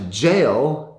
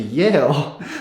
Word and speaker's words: jail: So sometimes when they'll be speaking English, if a Swedish speaker is speaking English, they will pronounce a J word with the Y sound. So if they're trying to say a sentence, for example, like I went to jail, and they pronounce it, I went to Yale, those are two completely different sentences.